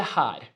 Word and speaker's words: her: Jeg sitter her, I'm sitting here. Nice. Jeg sitter, I'm sitting. Her is here, okay, is written with H-E-R, like here, but we pronounce it with the A.